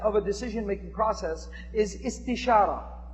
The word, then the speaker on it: istishara: The second step of a decision-making process is istishara. That sounds kind of like it rhymes with istikhara, is because it comes from the same verb pattern, which basically is the Arabic word for seeking counsel, seeking advice.